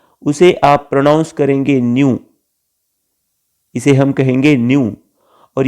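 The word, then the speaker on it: ν: ये जो सिंबल है उसे हम न्यू कहते हैं, प्रोनाउंस हम करेंगे न्यू, और उससे हम फ्रीक्वेंसी दिखाएंगे.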